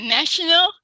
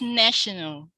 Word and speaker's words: national: the third one yeah national yeah that's right national it's like there's some there's a schwa on the the n and e here i'll show you here it's national national so we were taught